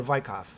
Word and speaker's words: Weikath: Is that the proper pronunciation, Weikath or Weikath?